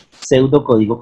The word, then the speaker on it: pseudocódigo: Pseudocódigo que en realidad empieza con una P, pero pues en algunas ya están obviando la P, inclusive en la palabra psicología, pero bueno, miren, pseudocódigo, ¿sí?